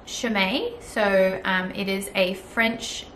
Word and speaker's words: Chaumet: So the brand is pronounced Chaumet.